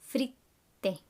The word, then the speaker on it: fritte: Make sure you do that pause in the t, fritte, because it's a double T, okay?